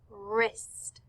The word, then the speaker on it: wrist: For wrap, we see WR, R. For white, we see WH, so we just hear W. And for wrist, we see WR, where we hear R again.